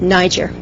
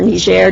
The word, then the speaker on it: Niger: This is an HIV/AIDS program in Niger, or Niger, depending on your pronunciation.